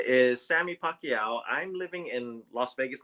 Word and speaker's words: Pacyau: And yes, it's pronounced Pacquiao just like the boxer Manny Pacquiao.